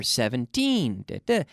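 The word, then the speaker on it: seventeen: Remember, 17, 17, with the intonation, the stress on the second syllable, 17. It's not 70, but 17, okay?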